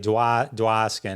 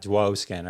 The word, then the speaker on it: Dwoskin: And the O in my last name is really kind of pronounced more of an ah. It's like Dwoskin, not Dwoskin or something like that if you were just to try and read it.